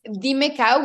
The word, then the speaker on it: Dimecow: My Instagram, it's crazy because in Spanish it's Dime Cow, which is Dimecow. In English, people are like Dime Cow, but it's not Dime Cow, it's Dime Cow. So it's like call me cow.